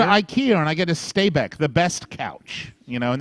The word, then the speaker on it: Stabæk: Yes, it is, and it's in the problem with Stabæk and pronouncing it is that the second syllable has one of those things where the A and the E are put together as one, and the club is